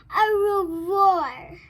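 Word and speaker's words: au revoir: you a little bored you say it like this a real roar that's french for goodbye on my door i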